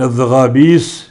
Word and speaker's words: الزغابیس: نہیں کر پاتے تھے، ان الزغابیس سین کے ساتھ ہے تو سین کا تلفظ وہ صحیح نہیں کر پاتے تھے، تو انہوں نے سین کی جگہ سا کہا، الزغابیس سا، کیونکہ دانت ان کے جھڑ گئے تھے تو سین کی صحیح ادائیگی نہیں کر پاتے تھے، انہوں نے سین کی جگہ سا کا تلفظ کیا، جبکہ حقیقت میں یہ سین ہے۔ آپ غور کریں کہ